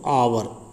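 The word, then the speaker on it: hour: नीचे चेक करते हैं, आवर, ये क्या बोला जाता है बच्चों, आवर, एच इसमें साइलेंट रहता है।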